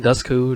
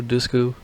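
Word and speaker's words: Dushku: movie I think Eliza dusu that's how you pronounce her name dusu dusu she's in here she plays AR teenager daughter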